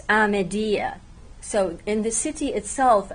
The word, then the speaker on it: Amediye: Kurdish it's aedi but in the local Kurdish pronunciation of the city itself it's amedia so in the city